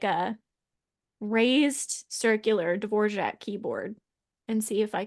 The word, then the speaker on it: Dvorak: It's Dvorak, and it does not look like it should be Dvorak, but that's always how I've heard that word pronounced.